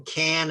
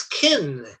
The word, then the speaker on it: can: speakers pronounce can as kin can i can go i can go k-i-n it's not a correct pronunciation but it's what most english speakers say oh i can do